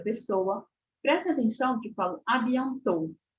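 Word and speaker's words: à bientôt: que falo abiant abiant eu paro no último o eu não pronuncio abiant adiantou né Não pronuncio nada disso o som do dele não sai nem quando nem assim muito simplezinho nem soprado el não sabe on to não sai esse som do tele não sai e a mesma coisa AB não sai sonzinho do d porque é aquilo que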